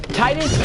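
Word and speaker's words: Tidus: - if you don't know how the correct pronunciation is Titus comes on the tie no like he is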